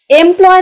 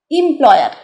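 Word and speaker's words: employer: এমপ্লয়ার কি বলব এমপ্লয়ার এমপ্লয়ার না কিন্তু উচ্চারণটা হচ্ছে এমপ্লয়ার অর্থাৎ আমি একটুখানি শর্টে লিখে দিই ইম অর্থাৎ এই এম হবে না কিন্তু এটা হবে ইম এমপ্লয়ার আর পুরোটা লিখলাম তাহলে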